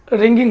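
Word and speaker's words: wring: हैं उससे हम लोग रैगिंग बोलते हैं इसका स्पेलिंग क्या है डब्ल्यू आर आई एन जी एच आई एन जी ठीक है यहां पर डब्लू साइलेंट है इस समय रिंग बोलते हैं दो SIM को आपस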